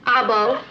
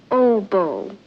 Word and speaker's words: oboe: an all-girl band he plays everything clarinet sax I bow I believe that's pronounced oboe oboe oboe he plays it how does it